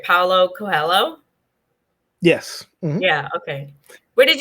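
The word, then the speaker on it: Paulo Coelho: by please let me know if this is pronounced right paulo cohello yes yeah okay where did you discover him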